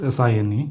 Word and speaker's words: sine: using o here and this one for convenience sake is written in short as sin but we have to pronounce it as uh sine or not sin o okay this is